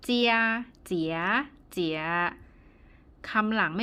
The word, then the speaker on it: 姐姐: ๆ เสียง ที่ 3 เจียเจี๋ย เจี่ย คำ หลัง ไม่ มี วรรณยุกต์ นะ คะ อ่าน ว่า เซีย เหมือน กัน แต่ ว่า ถ้า ตัว ไหน ไม่ มี วรรณยุกต์ ต้อง ออก เสียง เบา ๆ และ สั้น นะ คะ เพราะ ฉะนั้น